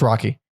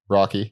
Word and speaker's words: Roky: Is it pronounced Rocky or Roky? I think it's Rocky. Rocky. Yeah, I believe it's Rocky.